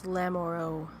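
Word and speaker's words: Lamoreaux: comment and distracted me my last name is lamaro e a u x in french is pronounced o so it's lamoro okay sorry um if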